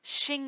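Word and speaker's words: shoji: no wait that's me no way that's pronounced Shing he's sorry people spent a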